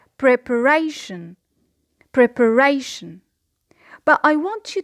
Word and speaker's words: preparation: So we say preparation. Preparation. The secondary stress here is on the first syllable.